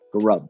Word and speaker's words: Gaurab: And if you want to contact Gaurab, is that the right pronunciation? Gaurab.